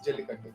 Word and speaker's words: Jallikattu: That is how it's pronounced? Yes, Jallikattu.